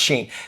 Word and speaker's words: Shein: We're being told it's pronounced Shein.